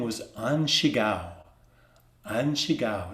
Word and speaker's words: An Shigao: we have a record of his name was anshigao an shigao it's spelled like a a-n-s-h-i-g-a-o and chigao or in